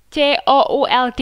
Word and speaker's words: could: Terus kalau could, C-O-U-L-D itu juga bacanya could gitu ya. Jadi L-nya nggak usah dibaca.